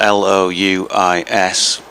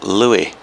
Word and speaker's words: Louis: it but then if we have a name spelt l-o-u-i-s we tend to go louie the americans would say louis louis armstrong for example